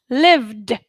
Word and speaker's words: lived: the end for example live chill enjoy try yes voiced not voiceless our ending should be voiced as well do not make it voiceless or unvoiced okay so live lived you have to make it d okay good in english